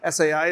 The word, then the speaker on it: SII: you it's really interesting SII is in the room today SII allows students to tell their unique narratives so that's pronounced s and it's a play on essay because it actually supports